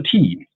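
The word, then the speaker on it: 茶: Oh yeah the word for tea.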